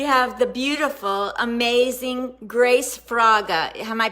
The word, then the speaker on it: Fraga: We have the beautiful, amazing Grace Fraga. Am I pronouncing it correctly?